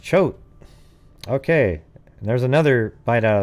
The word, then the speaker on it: Choate: jessica schubach oh hey it's pronounced chote okay there's another bite